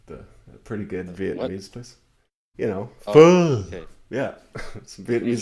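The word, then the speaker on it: phở: Pho. Okay. Yeah, some You Vietnamese tried to pho.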